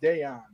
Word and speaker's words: Dejan: guy on my team his name was deon d-e-j-a-n i think his first name is pronounced deon uh and then i heard kante call him decky in his press conference deki is a is a nickname for deon so you know everybody's